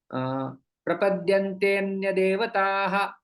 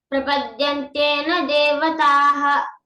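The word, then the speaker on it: प्रपद्यन्तेऽन्यदेवताः: अंदर छिप जाता है, तो उसको उच्चारण करते समय प्रपद्यन्ते अन्य देवताः। प्रपद्यन्ते न देवताः। हाँ, तो अन्य का उच्चारण भी हम लोग यहाँ पर जो है वो कर सकते हैं।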